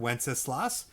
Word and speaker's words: Wenceslas: That's how you pronounce that word, Wenceslas.